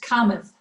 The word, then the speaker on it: Kamath: your surname okay so it's an indian surname it's pronounced kamath oh kama okay all